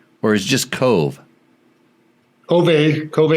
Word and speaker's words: Kove: Kove is correct, yeah. That's how they say it.